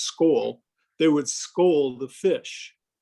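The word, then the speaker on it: skol: would drink akavite and skull s-k-o-l is pronounced skull they would scold the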